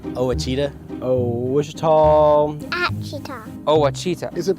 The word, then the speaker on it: Ouachita: How would you pronounce it? Ouachita. It's Ouachita Baptist University. Get it right. It's Ouachita, people. It's Ouachita. Ouachita.